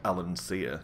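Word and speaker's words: Allansia: notorious of all lands alancia which is how i pronounce that i suppose i could pronounce it alan sear considering my name i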